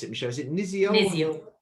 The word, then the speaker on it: Niziol: How do I pronounce it, Michelle? Is it Niziol? Niziol. Niziol.